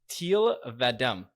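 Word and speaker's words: Thel 'Vadam: It's, I would I have said pronounce yeah. it. Shit. It's Teal Vadem.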